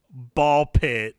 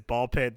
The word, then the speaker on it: BALL x PIT: pronounce this game as Ball Pit. There is an X in the title. So technically it's written as Ball X pit, but the official title's called Ball Pit. You don't pronounce the X.